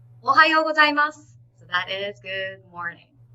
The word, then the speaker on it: おはようございます: It's pronounced as おはようございます. Okay, which means good morning. When do we use this? Imagine you went to school. You saw your teacher. You would say おはようございます in a high pitch.